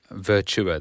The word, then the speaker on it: Virtua: Virtua, that's how you say it. I'll get told off for saying What are you saying, virtual?